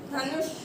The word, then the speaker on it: धनुष: धनु धनुष। तो वैसे ही उच्चारण हो रहा है इसका, यानी कि ये वाला श कौन सा श होता है? मूर्धन्य श। इसमें हमारी जिह्वा मूर्धन्य को टच करती है।